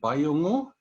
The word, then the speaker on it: Bayungu: about today is called Bayungu. On this map, it's spelt with a P, but P and B are not phonemically distinct. Voicing is not a contrast here, so don't be surprised by the difference.